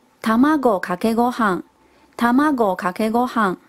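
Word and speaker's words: 卵かけご飯: 饭哦，日文是念作 Tamago kake gohan， Tamago kake gohan。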